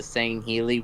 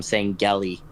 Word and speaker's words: Sangheili: Like, I'm not gonna lie, I have been pronouncing the Sangheili with a hard G before, so yeah, I used to call him Sangeli. No, it's Sangheili.